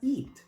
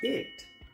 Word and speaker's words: it: Muchos pronuncian esta palabra eat, pero esta palabra no se pronuncia eat. Eat es comer. Esta palabra se pronuncia it. La i se pronuncia como una. It it.